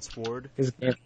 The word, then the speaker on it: sword: sword a sword no you don't pronounce the W if it's sword then why is there a w in there it's silent well why is it